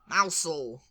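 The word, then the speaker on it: Mousehole: country down to Cornwall Ary down to Cornwall mousel mousel mous mousel yeah you got it yes it's m you get a character and you can do these things yes the mouse mousel that's how Hagrid would say it mous yeah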